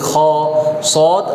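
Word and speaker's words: خاء: হিসেবে নিয়ে আসা হয়নি আচ্ছা তাহলে এই হরফের উচ্চারণ বলেন খ হা জিম জিম খা এর সাথে হাজি হাজি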